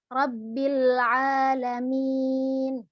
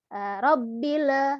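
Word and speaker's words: رب العالمين: juga tarqiq dibaca tipis rabbil alamin rabil Ah ini juga hati-hati kalau kita enggak hati-hati robila rabbil ada itunya Jangan sampai tawallud ada ee renyah alhamdulillahirobbilalamin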